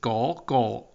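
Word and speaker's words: 哥哥: fun learning cantones so the first phrase is go go means that go go means brother go well she can also pronounce it as a go go and taller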